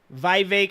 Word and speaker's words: Vivek: redox boy right here Vivek it rhymes with cake Vivek ramaswamy getting his ass